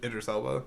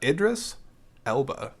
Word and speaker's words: Idris Elba: good job I likeed I like Idris Ela yeah I can never pronounce his name so I just yeah uh Idris Elba okay him I thought